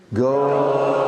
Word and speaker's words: Gauranga: It's got 4 syllables, although you'll think there's 3. Are you ready? Yes. Gauranga. Try again. Gauranga. 4 syllables. Go. Gauranga.